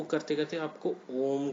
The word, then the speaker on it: ओम: बोल देते हैं, ओम, बट रियलिटी में क्या है, अ ओ म, ये 3 वर्ड से ये बनता है। जैसे हम बोलते हैं ये प्रॉपर फॉर्म है, इस तरह से हम इसको प्रोनाउंस करेंगे। सही तरीका ये है बोलने का।